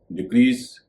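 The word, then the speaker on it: decrease: इंक्रीज, डिक्रीज, इसमें भी एस का उच्चारण स होगा।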